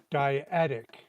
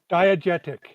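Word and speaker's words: diegetic: How do you pronounce the word diatic? Yeah, I mucked it up so bad. Uh there. Diagetic.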